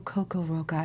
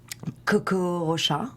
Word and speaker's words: Coco Rocha: So, all right, you guys know who Coco Roca is. Everybody's talking about her. Did I say it right? How would you say it? Say it. Coco Rocha. Okay, that sounds so much better.